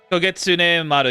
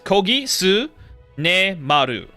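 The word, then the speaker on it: Kogitsunemaru: Kogetsune Maru, yeah. No, was it Kogisu? It's Kogisu ne Maru. What is it? 1, 2, 3, 4, 5. It's 6 syllables.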